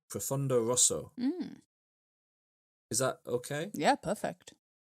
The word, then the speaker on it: Profondo Rosso: It's in Italian, it will be pronounced Profondo Rosso.